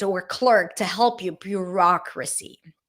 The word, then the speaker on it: bureaucracy: Bureaucracy. Bureaucracy. So the first syllable is bureau, like cook, look, book vowel.